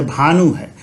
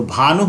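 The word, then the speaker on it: भानुः: विसर्ग आ रहा है यह विसर्ग यह ऊ के साथ आ रहा है, इसीलिए हम इसका उच्चारण हु के जैसा करेंगे, ह में ह्रस्व उ। तो भानु नहीं बोलेंगे, भानुहु, क्या बोलेंगे, भानुहु।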